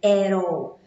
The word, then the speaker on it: at all: Junto at com all e fica um som de R, at all.